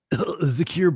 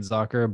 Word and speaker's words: Zockr: Zakir balls.